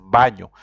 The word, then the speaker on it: baño: And baño, you see, there's n with something on top, the accent on top. That's why you have to pronounce it baño.